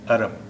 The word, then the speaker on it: अरब: इसका उच्चारण है अरब, अलिफ से है, अरब। ठीक, आप सब आसानी से कर सकते हैं। एक और अरब है जो ऐन से है।